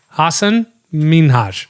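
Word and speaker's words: Hassan Minhaj: said this on a podcast how do you pronounce it Hassan it's sorry it's Hassan minhash okay I know what do you want from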